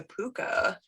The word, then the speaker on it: Púca: And that's spelled P-U-C-A with a little thingy. What is it called, Sarah? I thought it was called an umlaut. Umlaut is the two dots that the Germans use. It's a little like tick. Or it's spelled P-O-O-K-A.